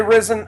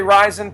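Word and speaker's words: RIZIN: about this I'm excited you say risen say ryzen potato potato tomato uh but who cares how you pronounce it r i z i n it's the new Pride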